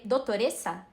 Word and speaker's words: dottoressa: pronúncia errada, porque eu tenho zero conhecimentos dessa pronúncia. É doutoressa, tá certo?